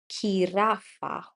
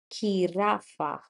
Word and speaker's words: jirafa: And when we use it in a palabra or in a word, it goes like H. So that is why Jirafa. Jirafa.